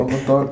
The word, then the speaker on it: Oglethorpe: Am I saying it right? Oglethorpe County? Yeah, like a little farm city, rural.